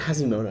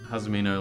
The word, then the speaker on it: Hazumino: Everyone calls it Hazimono. I can't remember his age, but he's young. He's a kid. I showed him Hazumino like a couple months ago.